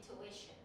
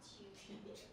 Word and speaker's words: tuition: You know where the stress goes, and you know how to say tuition, not tuition.